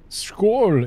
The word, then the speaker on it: Skål: Is it more of an oh sound? I don't know. I don't know my Nordic pronunciations. You're saying skull. You're missing that. How's that pronounced? Let's ask Google. Come on, Google Translate. You're so good at this stuff. Right, detect language. Swedish detected. English bowl. Skål. It's more O sounding.